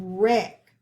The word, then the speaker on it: wreck: first word wreck wreck gonna underline digraph w r but we don't hear the w we just hear the r we're going to underline the ck but we don't hear the c sound we just hear the k and put a breathe